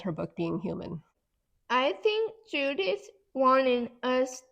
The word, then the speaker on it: Heumann: Human sounds like the word human, right?